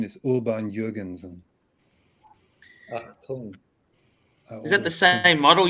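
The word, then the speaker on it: Audemars Piguet: the way it's it's called the the proper pronunciation is Uber and Jurgensen is that the same model you've got Clive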